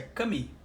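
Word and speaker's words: 神: Não, esse shin não é bem shin, isso é cami. Tá? A pronúncia nesse caso é cami.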